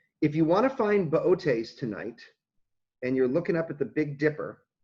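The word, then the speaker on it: Boötes: The constellation, it looks like Bootes, B-O-O-T-E-S, but it's pronounced Bootes. He's a herdsman. Bootes. I think the second O has an umlaut.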